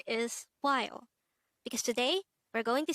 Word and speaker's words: 봐요: And if you notice, the wa sound is formed from the combination of the O and A sound.